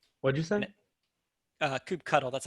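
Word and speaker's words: kubectl: in a namespace what do you thin it coop cuddle that's how you pronounce them we'll save that for the real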